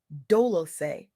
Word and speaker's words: Dolce: I'm Dolce, pronounced Dolosay, like sweet softness whispered in French, and I'm your guide